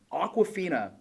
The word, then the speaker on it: Awkwafina: Awkwafina. I don't know if you guys know who she is. It's spelled Awka. Like, yeah, it's like the water, but it's like awkward.